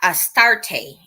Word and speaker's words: Astarte: be attributed to the goddess of fertility esta astarte and that's pronounced or spelled a-s-t-a-r-t-e so you know they